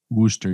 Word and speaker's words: Worcester: we're in how do you say it worcester wooster yes yes so think about how much a